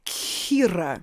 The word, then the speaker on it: Kira: Kira or Kira? It's pronounced Kira.